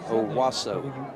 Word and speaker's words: Owosso: I mean, Justin Rosenbaum, but Justin Rosenbaum is, I'll have to probably spell this, is from OWOSSO, Michigan. So I would say Owasso.